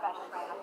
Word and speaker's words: Beshty: Is his last name pronounced Beshty? Yeah, Beshty.